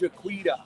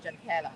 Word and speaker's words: Jaquita: It's Jaquita. I don't know if I think maybe it's Jaqueta. No, it's Jaquita. In English. It's Jaquita. Okay.